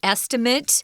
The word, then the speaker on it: estimate: of the verb to estimate notice that the pronunciation is estimated if you're talking about the noun an estimate maybe someone tells you oh you know for